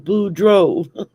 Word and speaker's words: Boudreaux: I'm everything down here ends in EAUX, and that's pronounced O. Thibodeau, Boudreaux, Fontenot, go.